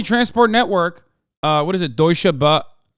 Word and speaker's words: Deutsche Bahn: Deutsche Bahn, right? Did I say it right? They are doing a mega strike, yeah. Deutsche Bahn is doing the mega strike.